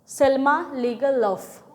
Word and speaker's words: Selma Lagerlöf: बस आप इसके प्रोनाउंसिएशन को याद रखो, सेल्मा लेगरलौफ. और इनका प्रोनाउंसिएशन इसलिए ऐसा है क्योंकि एक स्वीडिश राइटर थी. ये स्वीडन के रहने वाली थी.